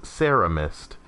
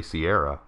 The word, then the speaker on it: Sierra Mist: Alex Bixby says, you know, I've always pronounced Sierra Mist as Sarah Mist, and have always heard it like that. Have somehow never noticed it was actually Sierra.